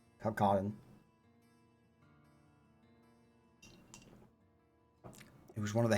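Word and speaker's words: Calcardan: Cal, C-A-L, Car, C-A-R, Dun, D-A-N, Kalkaran.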